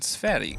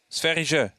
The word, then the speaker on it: Sverige: how do you say Sweden in Swedish? Is it Sverige? Sverige. Sverige. Yeah.